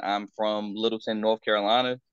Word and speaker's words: Littleton: been saying I'm from Littleton North Carolina you don't say little town you say Littleton or Littleton that's how we pronounce it um but yeah went